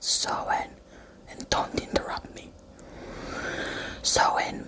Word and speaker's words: Samhain: Do you mean Samhain? No, it's pronounced Samhain, and don't interrupt me.